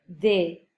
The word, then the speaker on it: des: Attention, la prononciation, je répète, de l'article partitif au pluriel, c'est des. Des. Un E fermé. Mais on ne prononce pas le S final.